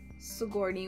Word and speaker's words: Sigourney: that Alexandra is actress her name is pram Sigourney Weaver I've been pronouncing it wrong has to journey because I